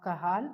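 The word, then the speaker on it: Cajal: The other nuclei is INC which stands for interstitial nucleus of kahal or kajal whatever you want to pronounce it is C A J E.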